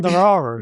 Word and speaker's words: Nauru: How do you pronounce it? Sorry. Nauru.